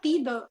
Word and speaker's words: Pido: Is that the correct pronunciation? Yeah, Pido with the I.